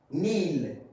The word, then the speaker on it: kneel: Now, if we talk about K, so remember this, at the beginning, okay, in the beginning of the word, okay, before N, K is silent, okay? Like knee, kneel, no, not, okay?